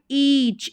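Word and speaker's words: each: यहाँ पर ईच, ई का साउंड आ रहा है, ए साइलेंट है, ई च के लिए हमने लिखा सी एच।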